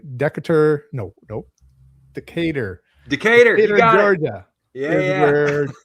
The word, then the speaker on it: Decatur: Decatur, you got Georgia.